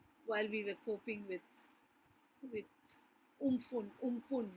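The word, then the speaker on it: Amphan: COVID was pushed back, into the backdrop of another fear lurking behind, while we were coping with umpun. Now that's how we pronounce it, meaning the sky in Thai.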